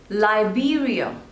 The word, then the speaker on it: Liberia: Lebanon Lebanon next is Liberia Liberia so there are total three syllables and the stress is on the second one B lie be real Liberia Liberia Liberia next